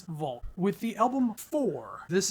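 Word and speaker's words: WLG: band known as vul even though it's spelled w LG it is vult with the album Four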